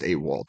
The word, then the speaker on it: AWOL: stands for absent without leave and yeah it's pronounced AWOL typically and then w-a-l-l like you said like